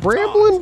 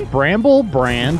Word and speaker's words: Bramble Brand: Did you even say it right? I thought it was Bramble Brand. What, completely. What did I say? He created it. You said Bramblin'. Bramblin'. No, it's not Bramblin'. It's Bramble Brand Bramble Brand Cookies for the brand children.